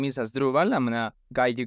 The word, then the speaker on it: Asdruval: So my name is Asdruval. I'm going to guide you guys through the pronunciation. So it's Asdruval. The main stress is on the second syllable, Asdruval.